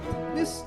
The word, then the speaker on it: Puknys: How was my pronunciation on your last name? It was authentic Lithuanian.